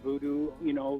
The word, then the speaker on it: Voodou: Well, it's just another spelling of the word voodoo. Voodoo, which is a Haitian kind of a healing art, what they call voodoo, they have voodoo dolls. It's just it's kind of like the original spelling of it, or the French Haitian spelling of it.